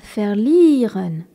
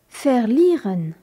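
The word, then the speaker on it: verlieren: à dos le verbe faire lireun V e r l I e r e n avec le V qui se prononce F et le i suivi d'un e qui est un ilon faire liren c'est un verbe irrégulier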